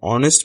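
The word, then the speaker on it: honest: অ্যান অনেস্ট ম্যান, এখানে এইচ উচ্চারিত হয়নি, অ এর মতো উচ্চারিত হয়েছে।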